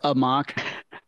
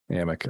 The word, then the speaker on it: Amok: Chris I said what's uh mock what's what's a mock it's pronounced it's pronounced Amic uh okay no I I was confused I